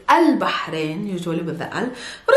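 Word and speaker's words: البحرين: and it's not bad there's a hat sound if you're still struggling with planting your hat click here and this will lead you to the lesson of how to pronounce your ha anyways it's just pushing air outside your mouth no vocal chords are not yet vibrating and it's al bahrain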